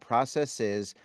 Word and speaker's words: processes: believe, is consistent, but when people say processes, it is my understanding they are mispronouncing it. There is no Yeah. reason for that last E to be long.